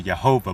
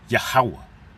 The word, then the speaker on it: Yahweh: And it appears to say Jehovah, but we know that there's no V, there's no E in the Hebrew. So we know that that's V is pronounced as a W, and his name is Yahweh.